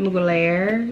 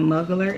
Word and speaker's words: Mugler: Isn't that how y'all said you pronounce it? Mugler? Because I think I was saying Muggler at first or something.